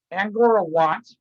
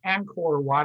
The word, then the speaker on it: Angkor Wat: Anyway, Angora Wat, okay, and it's Angkor Wat. I'm not pronouncing it correctly because I'm tired.